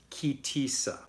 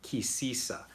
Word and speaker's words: Ki Tisa: this week's torah portion is ki Tisa and Ashkenaz pronunciation key sisa and what we've got